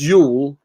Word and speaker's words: Jule: Jule, pronounced Yule, is the winter solstice.